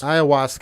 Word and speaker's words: ayahuasca: Ayahuasca is by the way, that's how you pronounce it. Is ayahuasca.